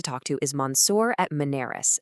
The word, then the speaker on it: Muneris: And if you're looking for that kind of guidance, a great person to talk to is Monsour at Manerys, and that's pronounced Munerys.